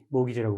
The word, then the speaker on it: mortgage: 모기지라고 그럽니다. 주택 저당 대출 이 채권 클레임은 영어로 모기지. 그 T는 묵음이죠.